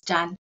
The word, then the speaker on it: Chan: Yeah, usually I just say Chan. My uh the Chinese pronunciation Chan. Okay. Yeah. Is Jan.